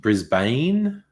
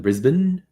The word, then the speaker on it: Brisbane: Yeah, Justin, I think Americans tend to say Canberra rather than Canberra, and Brisbane rather than Brisbane.